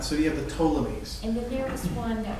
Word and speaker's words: Ptolemies: the p but but the p is silent so you have the ptolemies and the nearest one